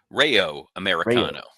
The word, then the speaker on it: Rayo Americano: Rayo Americano.